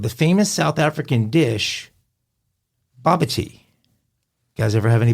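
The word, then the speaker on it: bobotie: Baba tea. Oh. It's- Sounds like tea, though. Sounds like Bobby's tea. How's it spelled? Bobby's tea. B-A-B-O, excuse me, I'm looking at phonetic. It's B-A-B-O-T-I-E, but it's pronounced Oh, well, baba that's tea.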